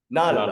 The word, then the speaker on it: Knull: Knull.